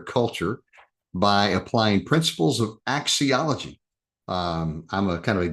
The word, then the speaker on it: axiology: Let me see if I can get the correct pronunciation. Axiology? Did I do it? Axiology.